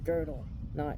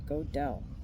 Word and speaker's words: Gödel: video that pops up, someone's going to pronounce it correctly as "GUH-DLE,"not "GO-DELL."